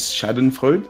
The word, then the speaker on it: Schadenfreude: I might mispronounce it. This is Schadenfreude.